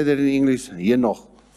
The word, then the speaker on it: Enoch: Henoch. Enoch. Nearly like the thing that you eat. Enoch.